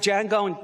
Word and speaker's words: Django: love django the junk django the d is silent damn it django unchained